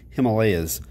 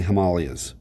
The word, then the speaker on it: Himalayas: famous mountain range okay the americans say himalayas most people in the world say himalayas americans can make things words sound pretty ugly sometimes himalayans okay himalayas is the way most people say it but whatever himalayas nice tall